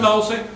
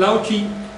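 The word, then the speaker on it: Laozi: ¿Sabes que no es Lao Tse? No. Lao Chi. Lao Chi. Chi se escribe C.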